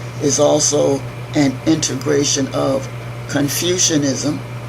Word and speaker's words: Confucianism: also an integration of Confucianism not confusion confucius Confucianism and Taoism representing complementary